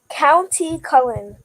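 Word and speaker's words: Countee Cullen: poem who's the author County Cullen I don't know if I'm saying that right you said it right County Cullum okay all right so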